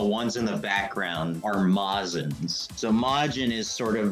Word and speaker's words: Majin: He had told us that it was actually pronounced Mazin because it was a Japanese translation error.